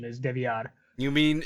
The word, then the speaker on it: DeVillar: oh but it's like if you really want to get like Hispanic with it like that is technically the correct pronunciation is devad you mean it's not